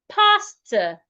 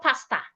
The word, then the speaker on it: pastor: However, in the word pastor, the letter A here makes a long sound. Pastor. So we have two long sounds in this sentence. Pastor and purple. My pastor loves purple color. Not my pastor loves purple color. It's not purple. Purple. Purple. Pastor, not pasta.